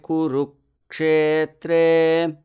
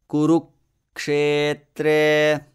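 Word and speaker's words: कुरुक्षेत्रे: Then the same thing with kuru. I cut the syllable ru and inserted a similar short pause. Kurukshetre.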